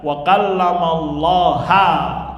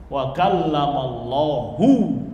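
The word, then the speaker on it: وَكَلَّمَ اللَّهُ: Makanya mereka berani mengucapkan wa kallamallaha Musa taklima. Dibaca Allah sebagai objek, berarti yang berbicara siapa? Musa. Padahal ayatnya apa? Wa kallamallahu, dibacanya hu, berarti Allah yang berbicara kepada Nabi siapa?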